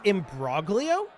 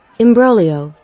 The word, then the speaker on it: imbroglio: uh let's see here I'm guessing it's embroglio what does this even mean a difficult or intricate situation an entanglement embrylio embrylio okay so it's a silent G good to know fantastic